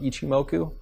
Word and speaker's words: Ichimoku: Is your education, does it revolve around Ichimoku? And is that how you pronounce it?